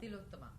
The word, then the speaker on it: Tilottama: I want to pronounce her name correctly, Tilottama? Tilottama.